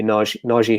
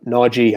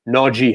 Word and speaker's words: Najee: city and then maybe naji harris um najee harris he was very he did an interview yesterday complained about people mispronouncing his name no g harris i have to get